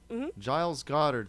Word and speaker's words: Giles Goddard: And the pronunciation is Giles Goddard? Is that how you say his Yeah, name? Giles Goddard. Giles Goddard.